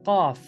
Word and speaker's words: Qaf: So the final letter of the single letters is Qaf, which appears in 50s, chapter 50. QAF, it's spelled QAF, right?